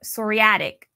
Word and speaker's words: psoriatic: Now let's go on to talk about psoriatic.